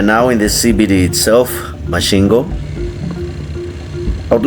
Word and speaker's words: Masvingo: By the way, uh it's not Masvingo, it's Masvingo. So, the locals here pronounce it as such.